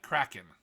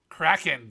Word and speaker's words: Kraken: Possibly even a kraken. Kraken, damn you. It's pronounced Kraken, sir.